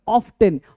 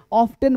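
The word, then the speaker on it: often: अक्सर ऑफेन। ऑफ्टेन बोलना गलत है।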